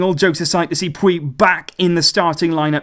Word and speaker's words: Puig: Now, I know with this, guys, I've been meaning to say it for a while, there is a different pronunciation in Catalan on that second name. It's Riqui Puig in Catalan, but actually, for me, it's very, very difficult to pronounce it like that.